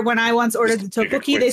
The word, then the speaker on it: tteokbokki: Tteokbokki?